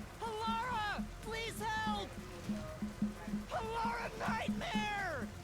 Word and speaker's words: Halara: Call Halora. What? Wait, please listen to me. Call Hora. You almost had it, but got too carried away.